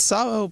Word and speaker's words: Szabo: It's Szabo, but it's spelled Szabo, which is why I've been celebrating